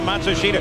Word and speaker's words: Matsushita: you pronounce his name now they change it about every six months they say the pronunciation is now matsushita apparently not enough of